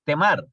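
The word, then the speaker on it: TMAR: de descuento entre paréntesis, temar, así como les pronuncio, ¿no?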